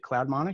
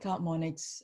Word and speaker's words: CloudMonix: Did I pronounce that correctly? Is it CloudMonix? You did. Yeah, CloudMonix.